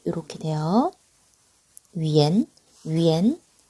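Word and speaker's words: 元: 위엔은요, 발음이 이렇게 돼요. 위엔, 위엔.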